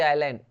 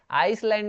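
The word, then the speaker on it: island: आइलैंड देखिए ना, ये आइलैंड, आइलैंड, यहाँ पे एस जो है साइलेंट रहता है, तो ये हो जाता है आइलैंड हो जाता है, आइसलैंड नहीं होता, ये होता है आइलैंड, आइलैंड का मतलब होता है द्वीप।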